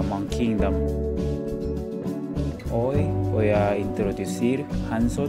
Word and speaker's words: Hansot: soy bienvenido a MONKeyINGDOM hoy, voy a introducir Hansot (Jansot, la pronunciacion de español), la lonchera famosa en Corea